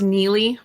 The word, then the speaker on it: Nili: week we're with neilly is it h it's pronounced neie I know it spelled strange yeah okay no